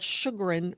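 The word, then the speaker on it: Chagrin: Uh called Sugarin Falls, but it's spelled C H A G R I N. So it looks nothing like it sounds.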